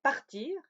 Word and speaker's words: part: Mais également le verbe partir, qui se traduit en espagnol irse. Je pars, tu pars, il part. Oui, ces trois formes se prononcent P-A-R.